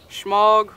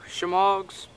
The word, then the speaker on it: shemagh: have a good Smaug I've heard them pronounced smog or shemagh same thing this is